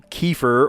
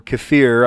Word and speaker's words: kefir: They sell I mean they sell kefir or kafir. I've heard both pronunciations. I say kefir.